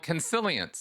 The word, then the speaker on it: Consilience: And you are the author of a book called Consilience. Am I pronouncing that right?